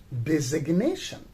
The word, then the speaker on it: designation: form and we say designation from design right so then in designation the letter g is pronounced so the the designation